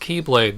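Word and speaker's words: χ-blade: x-blade because it's pronounced Keyblade because its first letter is the Greek letter for ki which looks like an X because there's a lot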